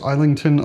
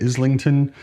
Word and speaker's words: Islington: lost by james eilington i'm told it's actually pronounced eilington a lot of people say islington i'm not sure i'm going to go with arlington because it's kind of cool like ireland this is a chonky